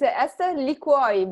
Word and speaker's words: Ester Liquior: Did I pronounce her name right, Esther? Almost. It's Ester Liquiore, but don't worry.